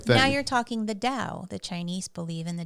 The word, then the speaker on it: Tao: Now you're talking the Tao. The Chinese believe in the Tao. Yeah, DAO, right? TAO. Oh. It's the Tao. That's how you say it.